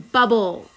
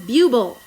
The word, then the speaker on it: bubble: be doubled, like in bubble, right? Let's write that. B-U-B-B-L-E. We have to double it Because if we don't double it, it says buble.